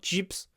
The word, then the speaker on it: chips: It's not chips, chips. Chips. And there's a little pause before the p.